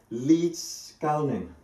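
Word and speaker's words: Liedskalniņš: So there's a guy, trying to pronounce his name correctly because he's a Latvian, called Ed Līdzkalnis.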